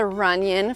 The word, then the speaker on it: Renion: So, this is the Renion floor plan. It's kind of funny because the name rhymes with onion, but this is an incredible floor plan.